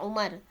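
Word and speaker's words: عمر: Nah, dalam hadis itu kalau ada wawu dibacanya Amr ya. Kalau tidak ada wawu dibacanya Umar. An Abdullah bin Amr radhiyallahu anhuma ya.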